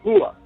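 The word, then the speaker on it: هو: Él, en árabe, referido a Dios, se dice Hua, pronunciado no como H aspirada, sino con lo más profundo de la garganta, cerca del esternón.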